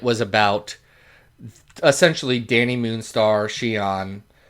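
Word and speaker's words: Cheyenne: about essentially Danny Moonstar Shion uh why did I say oh cuz that's the name of the city that's how it's pronounced and that's how I always read it Danny Shan uh and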